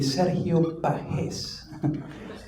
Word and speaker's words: Sergio Pages: My name is Sergio Pages. If you were to pronounce it right, it would be Serio Pahes, originally from Venezuela, South America.